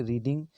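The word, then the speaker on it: read: यहाँ रीड का देखिए, यहाँ पे सब तीनों में स्पेलिंग सेम है, बट इसका प्रोनाउंसिएशन अलग हो जाएगा। रीड को V2 फॉर्म में रेड पढ़ते हैं, V3 में भी रेड पढ़ते हैं, ओके।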